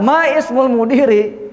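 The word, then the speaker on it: ما اسمُ المديرِ: Boleh masmul mudiri. Paham ya? Boleh juga maismul mudiri, boleh ya. Tapi kaidah yang benar, kalau ada huruf atau kata sebelumnya, sebelum hamzah wasal, maka boleh dilewati. Tidak diucapkan ya.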